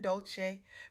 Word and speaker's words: Dolce: Welcome to the Softgirl Era podcast hosted by Dolce, pronounced dolce, like sweet softness whispered in French.